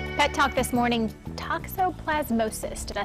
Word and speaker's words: toxoplasmosis: pet talk this morning toxoplasmosis did I say it correctly very good very